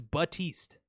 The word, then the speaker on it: Baptiste: cuz he's a healer his name is but East it's a silent P close why why why